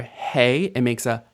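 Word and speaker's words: הא: your throat H and hey has a hole and it makes the same sound as the H at the beginning of hole too H hey has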